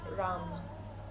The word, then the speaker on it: ram: We're just going to chant the seed syllable for the solar plexus three times al together. And that sound is ram.